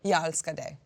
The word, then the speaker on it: Jag älskar dig: Jag älskar dig.